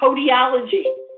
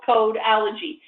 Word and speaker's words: codology: One of the things I want to be very clear on, the E is silent, okay? A lot of people pronounce it dental codiology. It's dental codology.